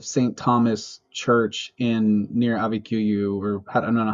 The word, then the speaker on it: Abiquiu: Thomas Church in near Abiquiu, or I don't know how to say it exactly. Abiquiu. Yeah. Abiquiu, thank you.